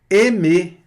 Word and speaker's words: aimer: Nós vamos ver aqui que esse A mais I dá E, né? Aimer. Vamos ver isso mais para frente, tá? Mas aqui também pronúncia fechada aqui do E, aimer, que é amar e gostar.